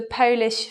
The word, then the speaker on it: Polish: So although they're the same spelling, they have different sounds, and that's because of word stress.